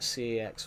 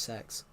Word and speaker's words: CeX: You can call it CEX or CEX, but it's actually pronounced sex.